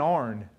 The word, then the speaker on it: iron: down so uh so what's what's an orn an iron yeah you iron your clothes with an iron so you're getting the